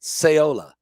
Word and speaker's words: Saola: of flights as the typhoon saola arrives that's how you say it seola it Smashes in to